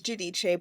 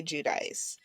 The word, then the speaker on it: Giudice: And Teresa said, like, it is Giudice, but people do say Giudice.